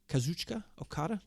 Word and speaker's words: Kazuchika Okada: Kazuchika Okada?